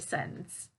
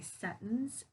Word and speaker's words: sentence: general conversation i usually do say the word scents okay so i use the glottal t i don't use that true t to pronounce the word so um that's part of